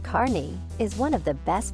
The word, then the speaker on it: Kearney: Kearney Nebraska perney pronounced Carney is one of the best places to see